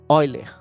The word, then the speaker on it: Euler: Escreve Euler, tá? Mas fala Euler, tá bom?